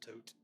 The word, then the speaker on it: Thoth: Some people call it Thoth, but it actually is pronounced Tote.